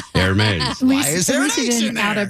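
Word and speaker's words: Hermès: Hermes. Hermes. Then how about spelling it with an A? Hermes.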